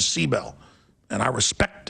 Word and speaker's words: Sibel: Edmonds, people keep saying, why do you say Seabell? She says, that's how you pronounce it. Not Sibel, she says Seabell.